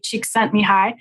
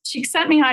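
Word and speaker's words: Csikszentmihalyi: called Flow by another positive psychologist called miol cheek sent Mi high oh good for you I was wondering if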